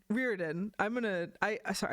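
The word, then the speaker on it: Riordan: know how to or rearin rearin I'm going to I sorry I've been pronouncing it the other way like my whole life and now I realized I'm wrong and now I'm I'm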